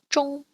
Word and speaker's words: 中: ONG is pronounced like or plus ng at the end. You get ong. For example, we have the word zhong, which is used in